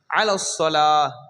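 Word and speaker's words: على الصلاة: அது அந்த அளவுக்கு போகாட்டி இத தெரிஞ்சுக்கோங்க அலஸலா சரிங்களா அலல்ஸலான்னு சொல்லக்கூடாது எப்படி சொல்லக்கூடாது லாம உச்சரிக்க கூடாது அலஸலா இந்த சத்தாக்கு முக்கியத்துவம்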